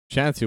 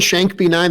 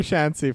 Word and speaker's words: Shancy: Shancy, wow, I was mispronouncing that so badly. Oh no, Dave! If you were saying Shank B9, that's totally fine. That's what I'm saying, but I will remember Shancy from now on.